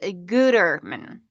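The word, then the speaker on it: Gütermann: Mario said it's pronounced Gutterman.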